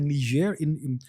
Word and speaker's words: Niger: So recently, there was a coup in a place called Niger. Now, Niger is a country nobody has heard of. It's called, the spelling is Niger. It's called Niger. That's a French pronunciation.